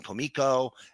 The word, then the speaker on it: Comico: It was his big run from Comico, and that's the way it's pronounced.